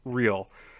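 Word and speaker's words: Re=L: love to hear real her name is spelled re equals L and that's supposed to be real it's like why what's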